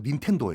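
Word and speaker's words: 任天堂: 돈을 벌 거든요 음 그 임천 당을 일본식 발음으로 하면 민 펜도 에요 아 그때 화 트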